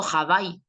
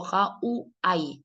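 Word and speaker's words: Hawaii: Yo no digo jabai, sino que digo ja u a.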